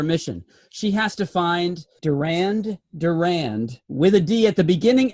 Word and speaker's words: Durand Durand: in the Murray room the second D is silent yes so this scientist